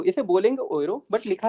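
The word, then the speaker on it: Euro: वह चलती है यू रो बट उसको प्रोनाउंस कैसे करेंगे? ओए रो कैसे प्रोनाउंस करेंगे? ओए रो मैं लिख देता हूं। ओए रो है ना? कोई जा रहा होता है ना उसे पीछे से आवाज देते हैं।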